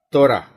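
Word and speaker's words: תורה: instruksi sebagai kata benda ejaan Ibra dan kau Raffles Hei 4 huruf dibaca Tora dalam bahasa Ibrani di terjemahan Alkitab Indonesia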